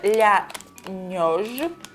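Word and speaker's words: La Neige: А еще есть вот такая вот зефирка, которая называется Ля Неж. Прям ударение на естый.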